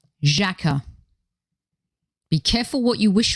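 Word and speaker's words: Xhaka: imagination and people that word that rhymes with lacquer and sakura that's right jacka be careful what you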